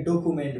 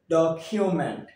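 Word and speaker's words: document: আমরা একটু খেয়াল করি আমরা এটাকে ডকুমেন্ট বলি কি বলি ডকুমেন্ট কিন্তু এর উচ্চারণ হবে ডকউমেন্ট কি হবে ডকউমেন্ট পরবর্তী শব্দ আমরা এটাকে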